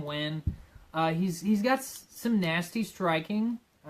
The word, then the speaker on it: Nguyen: they pronounce his name, because it's spelled Nguyen. But it's Ben 10 Nguyen.